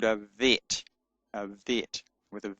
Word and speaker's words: Vet: But when it does not have a dot in it, it is pronounced with a soft sound, V, as in vine. And so the Bet is called a Vet with a V.